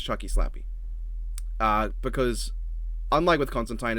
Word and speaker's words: Constantine: And yes, it is pronounced Constantine, even though Constantine sounds so much better.